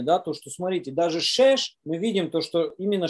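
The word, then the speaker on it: שש: На иврите слово 6, оно немножко созвучно с русским словом, оно читается как шеш, да, переводится шеш.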